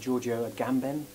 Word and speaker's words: Giorgio Agamben: And at the moment I've latched onto this stuff, these theories of a guy called Giorgio Agamben.